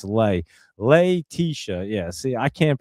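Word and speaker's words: Letitia: Leisha. Yeah. See, I can't pronounce it when you break it down for me.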